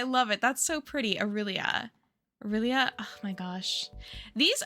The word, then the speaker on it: Aurelia: In English, it is normally pronounced as Aurelia. Aurelia.